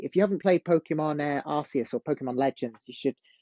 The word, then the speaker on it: Arceus: English some people say Arc yes I I say Arceus because that's how it's pronounced in Japan um I think that